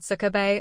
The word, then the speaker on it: SCB: We gentlemen referred to it with the acronym SCB and pronounced it like the Japanese word sukabe or pervert.